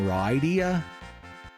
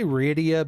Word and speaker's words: Rydia: I guess some people might pronounce her name Rydia. I say Rydia because of Ryu, as opposed to Ryu. It's just my personal logic, though.